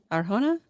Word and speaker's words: Arjona: Christian, it's pronounced Adra Aharana. I still go for it. I'm not Adria Arjona.